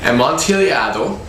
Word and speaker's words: Amontillado: I have it written down under the camera just so I can pronounce it for you. Amontillado.